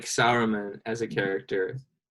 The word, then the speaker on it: Saruman: I kept writing Solomon because I didn't know how to pronounce his actual name. Yeah, Saruman.